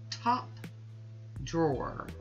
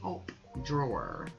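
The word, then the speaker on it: Taupe Drawer: And this last one is called Top Drawer, but it's spelt like top, you know, T-A-U-P-E, Top Drawer.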